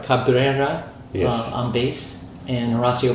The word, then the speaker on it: Cabrera: Fernando Semele on drums, and Nati, can I pronounce her last Cabrera. name? Cabrera, Yes.